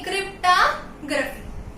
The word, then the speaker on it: cryptography: ओ pronounce नहीं करेंगे, क्रिप्टोग्राफी, ठीक है।